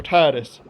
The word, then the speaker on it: Tidus: However, the developers of Final Fantasy X did call him Tidus in an interview, pretty much confirming that that's how you say his name.